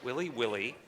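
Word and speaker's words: willy-willy: Willy from afar it's a tropical cyclone okay Willie Willie any alternative pronunciations nope just now Willie Willie well I'm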